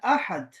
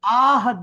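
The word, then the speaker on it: الأحد: ये तो देखो हाँ अल आहद नहीं है ना, आहद तो नहीं है, इसलिए अहद, संजू।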